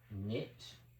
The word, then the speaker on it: knit: Well, we don't pronounce K. K is silent.